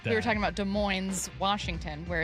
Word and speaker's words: Des Moines: are locals, and yet I say Des Moines, and you and Matt say Des Moines. Right. Which I think is weird. Because it's a French word.